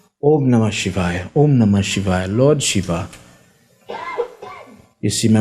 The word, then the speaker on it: Om Namah Shivaya: Om Namah Shivaya, Om Namah Shivaya. And some people feel it's okay to say Om Shibaba, Om Shibaba. Mispronounce the mantra, no problem.